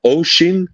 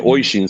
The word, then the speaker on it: Oishin: Is it Oshin? Oshin. Because I always called you Oishin, so sorry about that. But it's spelled Oishin.